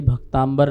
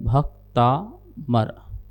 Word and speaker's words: भक्तामर: भैंस है अपभ्रंश में भी भक्तांबर नहीं बन सकता है अपभ्रंश में भी जो है भक्तांबर का भक्तांबर हूं तो बन सकता है लेकिन भक्तांबर अंबर वाला भक्तांबर नहीं बन सकता है अर्थात शुद्ध उच्चारण है भक्तामर नमोस्तुते हॉटस्पॉट हीरोइनी 337